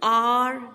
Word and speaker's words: hour: Fifth, the train was an hour late. H is silent and O is pronounced.